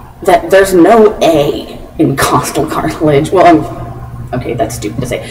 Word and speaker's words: costal: there's no a in costal cartilage well okay that's stupid to say there's not an a after the O it's not Coastal it's costal and I trusted my